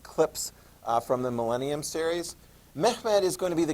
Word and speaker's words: Mehmed: accomplish the the task the name is pronounced mehmed okay and I've assigned